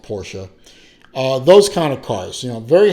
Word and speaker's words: Porsche: Yes, it's pronounced Porsche.